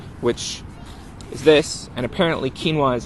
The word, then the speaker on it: quinoa: And one of those things is the United Nations called it the year of quinoa, which is this, and apparently quinoa is how you pronounce it.